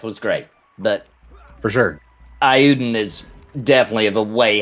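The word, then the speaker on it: Eiyuden: I've been pronouncing Ayuden Chronicle. Ayuden.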